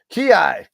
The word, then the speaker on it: Kyei: Ki. Ki is how you pronounce it.